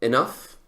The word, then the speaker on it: enough: Y tengo acá, encontré el ejemplo, enough. Enough se escribe con G-H al final, F.